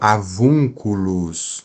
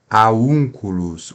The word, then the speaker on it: avunculus: por exemplo pessoal ah na letra V né a letra v eh em latim no latim Eclesiástico na pronúncia eclesiástica é V como em português certo então avunculus né avunculus tiu eh se fosse na eh restaurada ficaria Aún culos o v se torna u né a